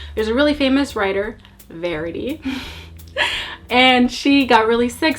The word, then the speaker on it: Verity: right first up is verity can we just talk about how the entire time I read this book I pronounced her name as variety and I think I